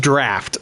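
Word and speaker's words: draught: And that is pronounced draft. I learned last night. Just so everybody knows, I have been mispronouncing that the entire season. That is a draft of whispers.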